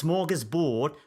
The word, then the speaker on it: smorgasbord: The manager of the England football team has a smorgasbord of midfield players. I use the English pronunciation, but if I wanted to say this word in Swedish, where it comes from, it would be smörgåsbord.